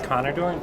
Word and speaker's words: Connor Doran: Yep, it's Connor Doran.